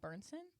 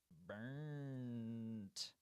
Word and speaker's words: Bernson: But I don't think that's not how you say my last name. Try again. Bernson. Burnt. No, there's no T. The T is silent. Bernson.